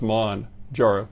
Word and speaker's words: Mounjaro: medicine so Manjaro is expelled m-o-u-n-j-a-r-o but it's pronounced Mon jarrow and and so uh that's the the drug